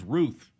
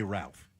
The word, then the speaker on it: Routh: I know it's spelled like Routh, but he says Ruth. Everybody else is saying Ruth. And then you, who apparently have heard everybody all morning, you say Ralph.